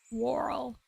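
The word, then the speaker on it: whorl: Um, how to pronounce warl? Warl.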